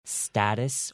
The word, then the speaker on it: status: one thing in common the second T you don't need to say that too harshly you can actually make it a softy status or status okay you don't have